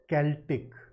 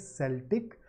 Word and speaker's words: Celtic: This is pronounced Celtic. For a long time I used to pronounce it Celtic because of a particular team in the US baseball, and the team is called Celtics.